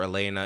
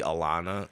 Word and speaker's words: Alaina: At Alaina, and it sounds just like it's spelled, except for Alaina is Alaina. Yeah, you got that. Yeah, I mean, a lot of people see Alana like how it's supposed to be.